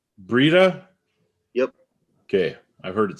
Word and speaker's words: Breda: do you say your last name uh brita breeda yep okay i've heard it said about a